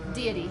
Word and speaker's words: DXXXY: D.E. Deity. He's a New Orleans artist, but it's spelled DXXXY.